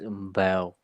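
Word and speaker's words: Bau: It's Mbao. So BAW is how you spell it, but it's pronounced with an M in front of the B.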